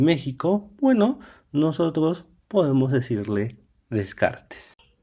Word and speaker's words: Descartes: monaguillo que es René Descartes, que sí se pronuncia de kart, pero si hay personas que no pueden decir popocatepul o otro tipo de nombres propios en México, bueno, nosotros podemos decirle Descartes.